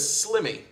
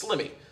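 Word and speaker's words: Sliimy: different his name is slimmy and you can spell that s l i i m y SL l i i m y rhymes with Jimmy it's slimmy so check him out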